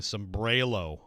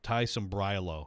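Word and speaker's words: Sambrailo: a bunch of people keep saying some brelo it's i mean like like the titans have the pronunciation spelled out for you it's tie some brillo even though it's ai yeah this is this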